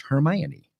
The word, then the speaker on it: Hermione: back up the fact that the name is pronounced hermione i don't really care that much baby i'm